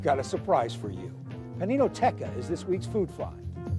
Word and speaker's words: Paninoteca: Paninoteca. Well, you pronounced it properly.